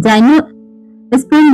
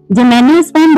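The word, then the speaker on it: gymnosperm: Gram R classified इनू अब इसको कई लोग जाइनो स्पर्म बोलते हैं। कई लोग बोलते हैं गाइनोस्पर्म। तो देखिए जेनोस्पर्म बोल सकते हैं या गनोस्पर्म डिपेंड्स अपॉन यू। बेसिकली इसको हम जेनेस्पर्म बोलेंगे और एंजियोस्पर्म बोलेंगे।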